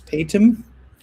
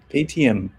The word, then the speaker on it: Paytm: Patum? It's ATM. Paytm.